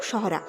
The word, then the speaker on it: Sohra: চেরাপুঞ্জির আসল নাম কিন্তু সহরা। ব্রিটিশরা এটাকে চেরা উচ্চারণ করত। এবং সেখান থেকেই এই চেরাপুঞ্জি নামের উদ্ভব হয়।